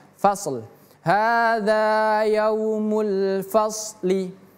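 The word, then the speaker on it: فَصْل: Ini shad. Ingat fasl. Hadza yaumul fasl. 1 2 3 hadza yaumul fasli fasad masuk li fasli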